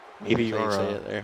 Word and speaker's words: Meteora: I still don't know how to pronounce really Meteora. Meteora.